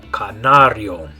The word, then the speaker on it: canario: The yo, canario. Okay, so in English, canary. In Spanish, canario. Okay, the next one.